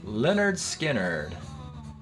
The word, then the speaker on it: Lynyrd Skynyrd: seven stretch time and we've been listening to pronounced leonard skinner from 1972 tuesday's gone classic all right bottom